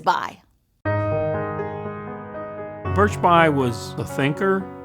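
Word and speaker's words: Bayh: your kind of guy his first name is birch his last name is bi birch bai was the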